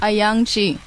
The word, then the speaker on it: Ayoung-Chee: Ayoung-Chee.